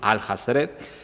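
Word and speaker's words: Alhazred: el árabe loco Abdul al-Hazred, que además se supone que es la forma en la que se pronunciaría en inglés Abdul, el que todo lo ha leído, all has read, pero escrito pues al-Hazred,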